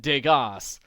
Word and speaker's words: Degas: I just wanted you to know if you guys have access to Degas, spelled like it rhymes with Vegas.